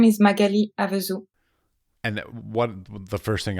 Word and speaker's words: Magali Avezou: would you please pronounce your name correctly for me? So my name is Magali Avezou.